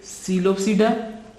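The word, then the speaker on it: Psilopsida: One is Coelopsida, classes of pteridophytes. Classes of pteridophytes. One is Coelophyta. PSILO Coelopsida. इसकी example है जी Coelotum. Coelotum. P is silent in both.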